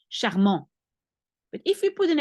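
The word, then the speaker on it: charmant: at the end of normally you don't pronounce the last T you say charm but if we put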